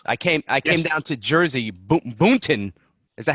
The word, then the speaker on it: Boonton: I came down to Jersey, Boonton. Is that how you say it? Yes. Boonton, New Jersey.